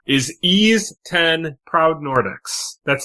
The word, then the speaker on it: Ys: and Switch 2 is Ease 10, Proud Nordics. That's Ease as in YS, the famed RPG franchise. Yeah. So, if you didn't know, YS is supposed to be pronounced E.